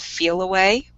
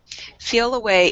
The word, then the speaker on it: Feliway: There's also a product we didn't mention today called Feel Away. And Feel How do you Away spell that? it is Feliway. Feel Away is a really neat product that came about